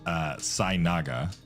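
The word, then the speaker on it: Sei'naga: It's pronounced Sainaga, but SEI apostrophe NAGA.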